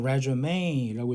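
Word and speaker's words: résumé: 이렇게 이 앞에 이렇게 이 위에다 뭔가 이렇게 컴마 찍은 거는 이거를 에로 강하게 발음하는 프랑스어다. 그래서 resume라고 얘기를 해서 이력서가 됩니다.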